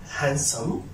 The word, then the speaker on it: handsome: But here I cannot pronounce center D if it comes after N, such as sandwich, sandwich, sandwich. And for example, handsome, handsome, handsome.